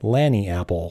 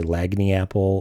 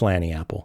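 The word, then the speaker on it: Lagniapple: So you might be tempted to say Lagny Apple or just mumble it or give it a new name because you don't know how to pronounce it. It's Lanny Apple. It is derived from a Creole word, Lanny App.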